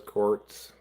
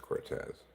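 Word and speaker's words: Cortes: Come on, Carlos Quartz. It's probably pronounced Cortez, but C O R T E S with Quartz.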